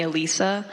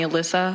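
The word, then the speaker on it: Alysa: My family calls me Alisa. Um, but like all my friends call me Alyssa, so it really doesn't matter.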